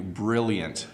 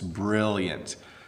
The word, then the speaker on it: brilliant: more time for you brilliant brilliant so make sure you the ELLs are a hard L sound don't pronounce it if you're French don't make it a Y sound it's brilliant okay next word competent